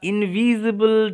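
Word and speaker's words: invisible: ওকে, two admire প্রশংসা করার, দ্য ইনভিজিবল dress, এই এসের উচ্চারণটা জয়ের মতো হবে, জ নয় কিন্তু জ, যেহেতু দুটো ভাওয়েলের মাঝখানে এস আছে।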